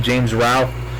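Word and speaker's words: James Rolfe: Nerd or James Ralph I think you pronounce his name James Rao Center Massacre the guy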